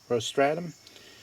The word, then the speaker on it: rostratum: name it's sanum rostratum I think it's you would uh pronounce that rostratum all right that's what